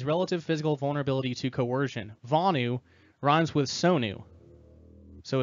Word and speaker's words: Vonu: quote Vani means relative physical vulnerability to coercion vaanu Ron's with Sonu so its bony was how it's supposed to be pronounced Tony do you have it yeah so